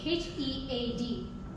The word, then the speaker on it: head: H E A D. How to say head? Head. So, so when you're heading somewhere, it's not he, it's head. Head.